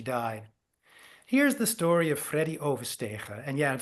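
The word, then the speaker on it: Freddie Oversteegen: Here's the story of Freddy Overstegen. And yeah, and for those of you who are non-Dutch speaking, yes, that's how you pronounce it.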